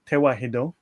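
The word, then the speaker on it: ተዋሕዶ: be unified or unification and tawahido the modern pronunciation is tewahido but related it is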